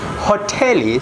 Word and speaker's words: hoteli: also another word hoteli hotelie sorry hotelie means hotel okay hotel so we pronounce just this sound as the same in english but in english uh it's hot hotel but in sohil it's hotelie you seem like uh